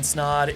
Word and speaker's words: Snod: My name is Snod. It rhymes with Odd and you're listening and watching the Rhymes with Odd podcast.